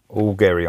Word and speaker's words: Augeri: So, this is the second album to feature Steve Augeri, or Augeri, spelt with a G, but Augeri I'm going to go with.